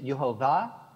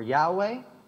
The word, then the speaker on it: Yahweh: You say Yehovah or Yahweh. Yes. Jews do not pronounce that name.